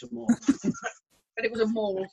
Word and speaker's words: The Mall: So the mall goes down to the Buckingham Palace, doesn't it? The Mall. Is that called Mall? The not Mall. The mall? Even though it's spelled the same way.